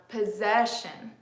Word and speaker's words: possession: say the pronunciation sounds like shin shin but it's still the schwa because look it Shin shin shin my lips aren't moving right but it's a different sound than here the vowel sound is slightly different so it says shin shin repeat shin okay good so we